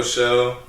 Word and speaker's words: Pshow: psych awesome welcome to the psycho show with a silent p with your host VJ